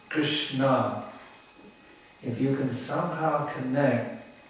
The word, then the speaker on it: Krishna: Because humility will give you the ability to actually taste Namaruchi, the sweet flavor of Krishna's name. That's really where the nectar is. It's there in these two syllables, Krishna.